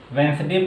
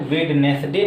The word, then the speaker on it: Wednesday: अगर उसी तरह ले लिया जाए WEDNESDAY, वेंसडे पढ़ा जाता है, वेडनेसडे नहीं पढ़ते हैं, यहाँ पे भी जो डी है साइलेंट है।